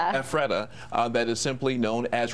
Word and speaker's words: Ephrata: facility located in, how do you say that, Ephrata? Ephrata, that is simply known as Retreat in Lancaster County.